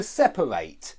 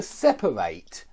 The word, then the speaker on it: separate: remind you that if it's a verb you want to end the word with the sound eight to separate to delegate to moderate and one more thing